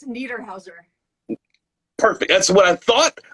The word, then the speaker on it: Niederhauser: How do you pronounce your last name? No problem. It's Niederhauser.